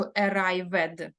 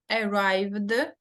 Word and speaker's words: arrived: дивіться помітьте да Що Я не кажу ared тобто Я оцю літеру пропускаю Да вона не читається в цьому випадку не читається і просто читається буква д arrived played друге коли закінчення